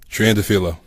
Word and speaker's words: Triandafilou: So, Paul, how do we pronounce that last name? Triandafilou.